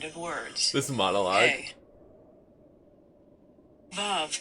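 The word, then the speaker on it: ו: Vav can be pronounced like the V in victory, the O in home, or the U in moon.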